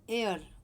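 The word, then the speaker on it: heir: Next word एयर, उत्तराधिकारी होता है, इसका मतलब एच साइलेंट है, ए से शुरू हो रहा है, एन एयर।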